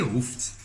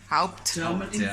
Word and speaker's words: Haupt: Mense sê Haupt, maar vir my is dit met die Haupt.